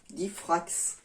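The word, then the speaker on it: Difrax: pharmacie sur le net du dif racks comme ça se prononce dit frax ensuite j'arrive attraper les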